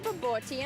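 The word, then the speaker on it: bobotie: So this is our baboti and rice, savory rice, and this is our chicken samosas, and this is our chicken peri-peri and chips.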